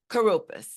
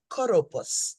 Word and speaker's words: Kouroupos: Oh, Kouroupos, please give us the proper pronunciation of your name, Sister. Kouroupos. Kouroupos.